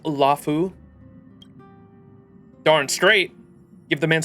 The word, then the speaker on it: Luofu: this opportunity on the luu to dig into it luu March it's pronounced lafu darn straight give the